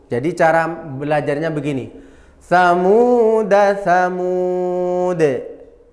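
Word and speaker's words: ثَمُودَا: dannya dibaca sukun jadi cara belajarnya begini samsamuda tsamud tsamuda tsamud Jadi kalau kita baca wasal dananya pen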